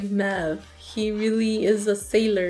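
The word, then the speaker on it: Möwe: The pronunciation is kind of like Mev.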